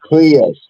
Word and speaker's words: Prius: It's pronounced Prius.